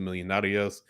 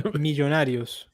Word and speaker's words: Millonarios: And certainly his playing time could increase with Edwin Mosquera now loaned out to Millonarios.